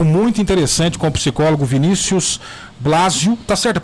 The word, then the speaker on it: Blásio: da entrevista bate-papo muito interessante com psicólogo Vinícius blazio Tá certo a pronúncia isso Lácio No final quero que você